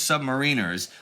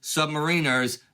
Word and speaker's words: submariner: Yes, submariners, not submariners. Quote, "The pronunciation submarine plus with stress on third syllable, submariner, is preferred by naval brass as evidence of submariners' collective lack of concern for the opinion of non-submariners on any matter.